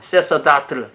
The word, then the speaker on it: sacerdotal: 저한테는 어려운 다네요 찾아보니까 sacerdotal 어떻게 발음해야 되면 아세 서다 틀 이렇게 볼 발음해야 됬네요 쎄서 다트를 이게 뭐냐면 성직자를 존중하는 교회 쎄서 다툴 비유 어브 더 추울